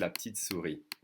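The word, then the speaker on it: la petite souris: remember that the e's without an accent that are in second position of a word second sound of a word are going to be swallowed in french so petite is really going to be pronounced so it's la petite series we pronounce la titsuri like this the tooth fairy we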